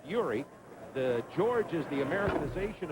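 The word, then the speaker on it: Jiří: And George Zdeck, his Czechoslovakian name is Yuri, pronounced Yuri.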